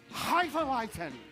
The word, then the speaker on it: Hefeweizen: Hefeweizen.